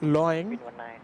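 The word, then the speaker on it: 龙: Long is pronounced loing, meaning dragon, hence the dragon logo on the tail.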